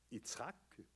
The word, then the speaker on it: Yitzhak: Alors, et là, d'ailleurs, en hébreu, le nom de son premier fils, Yitzhak, comme on devrait le prononcer en hébreu, ça veut dire « il rit hein?